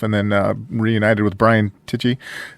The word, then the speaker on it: Tichy: You played on with Michael Sweet, George Lynch, yourself, and then reunited with Brian Tichy, or Ticky. How you say it? Tishy.